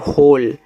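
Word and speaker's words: hole: एच ओ एल ई इसको पढ़ते हैं। होल तो एच से आपका ह ओ से ओ की मात्रा हो। एल से आपका लास्ट में जो इ होता है ना उसका उच्चारण आपको नहीं करना है।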